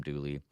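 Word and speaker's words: Dula: Mountaineer maybe named uh Tom Doula we pronounce Tom dly and he's hanged for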